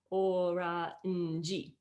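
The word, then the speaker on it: オレンジ: But when you take the borrowed word orange into Japanese, it becomes oranji. It actually has 4 syllables.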